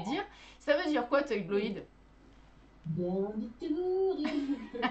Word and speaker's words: Toybloïd: Alors on a peut-être un peu de mal à le prononcer, on ne sait pas si c'est Toy Bloid, Toy Bloid.